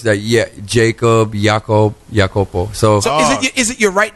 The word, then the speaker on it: Iakopo: I got to Sam they just pronounced my name as yopo so that's just you